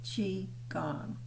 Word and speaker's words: qigong: now the fourth is qigong that's pronounced chi gong it's you it's q-i-g-o-n-g it's our secret weapon